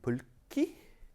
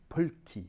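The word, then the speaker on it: Pulkki: finnish guy named ville pulkey and uh sorry let's try to get my finished pronunciation right pulki you gotta get every consonant um he's he's he's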